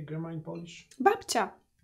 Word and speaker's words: Babcia: Babcia. Babcia.